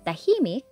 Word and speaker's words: tahimik: Madaldal, stress on the last syllable, and tahimik, stress on the second one.